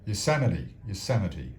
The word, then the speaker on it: Yosemite: Yosemite, how do you pronounce that? Yosemite, that's it.